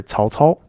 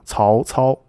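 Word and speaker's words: 曹操: So here we have two different tones for two different characters, even though when you spell it out without any accent marker, they look the same. So in the case of Cao Cao, the first character is in the second tone, and the second character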